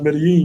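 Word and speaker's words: Medellín: You see how she said Medellin? People be like, man, BMT, you pronounce Medellin wrong. Medellin wrong. You can pronounce them both ways.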